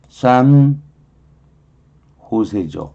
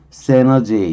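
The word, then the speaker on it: San Jose: 그래서 산 호세죠. 근데 미국식이라면 세너제이 이렇게 발음도 해요. 세너제이 이렇게 발음하기도 하고 스페인어로 산 호세 이렇게 발음하는 거죠.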